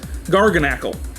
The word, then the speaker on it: Garganacl: No, the proper pronunciation is Garganacle. But I say Garganicle.